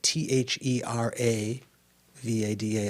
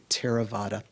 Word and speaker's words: Theravada: english when you see t-h-e-r-a v-a-d-a it looks like you'd pronounce it a theravada that th is just an aspirated t so it's not pronounced thera it's terra like an aspirated t teravata um the theravada that's